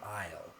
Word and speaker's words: isle: a noun and also the S here is a silent letter you don't pronounce it io means a land